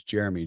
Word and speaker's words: Jerremy: My first name is spelled with 2 R's. So it's Jerremy, Jerremy. My dad's name was Jerry. So that stands for Jerry and me.